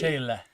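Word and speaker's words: Sechele: And it's say, like saying words, right? Say. Che, like change. Che. And then le, like let. So the end has to be like lazy. Sechela.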